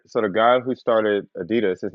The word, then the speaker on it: Adidas: name is Adi and his last name is dasler Das ADI Das that's what it's pronounced I say Adidas his name is uh